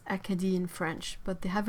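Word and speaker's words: Acadie: the eastern coast of the eastern provinces it's a kadhi in French but they have a really really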